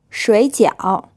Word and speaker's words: 水饺: 结婚水饺 This word is pronounced with two third tones. So as always, the first syllable becomes a second tone, and this means dumplings.